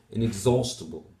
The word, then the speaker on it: inexhaustible: this is incorrect here because the primary stress is on the second syllable inexhaustible so that's incorrect three